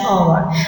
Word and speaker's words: hour: We shall be back in dash hour. Over here H is silent and hour is giving us a consonant sounds because it's starting with word O.